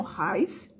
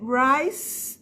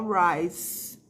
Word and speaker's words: Rice: r e não Rais and rights e é Rice um som de s no final não é um som de ci Nice Não lembra que